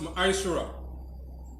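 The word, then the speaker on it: מעשר: Means tenth in the Hebrew and is pronounced ma'ashara.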